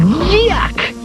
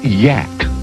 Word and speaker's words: Yak: the original good yuck actually the creature's name is pronounced Yak well I'd love to